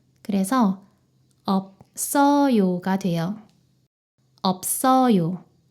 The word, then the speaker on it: 없어요: 이때 시옷이 쌍시옷 발음으로 변해요. 그래서 없어요가 돼요. 없어요. 없어요.